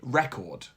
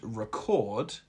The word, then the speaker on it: record: By stressing the first syllable in the noun and the second in the verb, you are now practicing native-like pronunciation patterns.